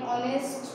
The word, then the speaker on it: honest: Half an hour, he is an honest man, H silent रहता है।